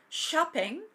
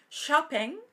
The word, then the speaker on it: shopping: una cosa es decir shopping sh como para hacer callar shopping shopping y la otra cosa